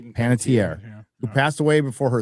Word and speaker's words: Panettiere: You pronounce her last name right, Ryan. Hayden Panettiere. Panettiere, who passed away before her 37th birthday.